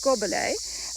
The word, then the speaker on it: gobelet: fine go below and to pronounce go ballet it's like God you know like it got kind of here yup and then just like God and then lay like to lay down lay gobble a Robert ley that's amazing